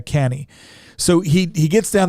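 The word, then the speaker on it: Cannae: Battle of uh canny it looks like cane but it's actually pronounced uh canny so he he gets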